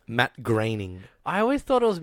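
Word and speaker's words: Groening: created the show exactly what how do you pronounce his name Matt graining I always thought it was Matt groaning groaning I used to say groaning until I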